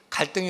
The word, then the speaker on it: 갈등: 올라가는 칡나무와 등나무를 가리키면서 갈등이 어디서부터 온 얘기인지 얘기를 하더라고요. 이 갈등을 한자로 보면 갈자는 칡나무 갈자를 쓰고요, 등자는 등나무 등자를 씁니다. 그래서 이걸 읽을 때는 갈등이라고 읽는 것이 아니라 갈등 이렇게 읽어야 된대요.